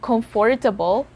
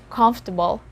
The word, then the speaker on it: comfortable: letters o and r so it's not comfortable it's comfortable well you might hear some native speakers or you might hear from some dictionaries the word as comfortable like all the letters are pronounced and that's perfectly fine for example sentence she's